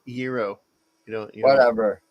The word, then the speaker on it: gyro: It's a gyro place called Gyro's House. It's gyro. You Whatever. don't pronounce it gyro.